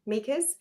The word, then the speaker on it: Mieke: Yeah, so it's Mieke rhymes with sneaker, and I will explain the name.